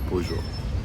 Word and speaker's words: pollo: Like they don't say pollo, they say pojo.